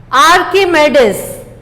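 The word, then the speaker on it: Archimedes: Pronounce कीजिए। आर्किमेडिस।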